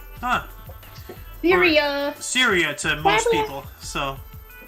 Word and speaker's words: Syria: and plan to withdrawal of U.S troops from Sabria huh Syria Syria to most people so yeah how to